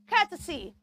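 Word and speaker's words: courtesy: do not say Cy it's not the o sound there we have the E uh say Cy Cy say cesy Cy Cy Cy be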